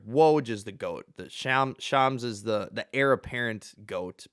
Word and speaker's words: Shams: I learned how to pronounce it. Shams.